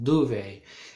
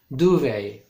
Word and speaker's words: duvet: can also use a duvet that's more modern do they it's for D u v e t but but there's a letter which you don't pronounce which letter is it the T do they okay we'll have a